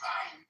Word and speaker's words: Ayn: Ayn Rand? No, you got it right. No, you got it right. It's ein.